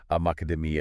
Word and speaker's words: macadamia: The stress has to fall on that second macademia. Academia, right? If you put the stress on the third syllable, it just sounds wrong.